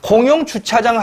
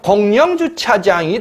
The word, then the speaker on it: 공용주차장: 공용주차장 하면 분명히 이응과 이응이 결합되는 거죠. 공용주차장. 그러면 얘는 자 그대로 공용입니다. 그런데 얘는 발음하는 걸 보면 공영주차장이 돼버립니다.